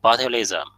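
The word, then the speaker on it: botulism: disease it cause is cause is sound like bilism.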